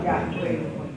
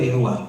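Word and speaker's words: Yahweh: ditulis hurufnya mati semua makanya ditulis nama Tuhan itu y he wau e bacanya y h bacanya Yah. Yahwe. Yahwe atau Yahua atau Yahua.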